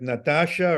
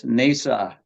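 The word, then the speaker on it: Hnausa: I can't quite pronounce the other one like Natasha or Nasha or whatever? You would have to come from Icelandic roots to be able to pronounce that one. It's Nesa.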